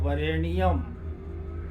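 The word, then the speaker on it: वरेण्यम्: नियम ये है कि लिखा जाता है वरेनियम नय संयुक्त अच्छा शुद्ध जैस और उच्चारण करेंगे वरेनियम अच्छा नियम जैसा करेंगे संयुक्त अक्षर के रूप में उच्चारण नहीं होगा मंत्र जब हम पढ़ेंगे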